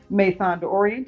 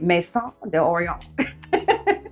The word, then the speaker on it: Maison d'Orient: very well like me you can also say may Thunder Orient if you want to pronounce it that way but I like to say at the French way Maison De Oreo with anywho I had